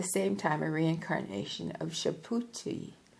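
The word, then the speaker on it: Subhuti: and at the same time a Reincarnation of shapi s u b h u TI one of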